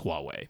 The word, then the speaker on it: Huawei: how to say this Huawei the anglicized version is Huawei yeah that's not at all the correct pronunciation but that's that's what we say over here have announced a new